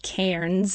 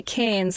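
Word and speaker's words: Cairns: And you guys would probably pronounce it Kairens because there is actually an R in there. So in Australia, the accent with the accent, we say cans, like cans of tomato soup.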